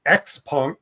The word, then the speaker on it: XPeng: I think for for those for those English speakers out there know we're it's X Pong. Pang is the way we would say it.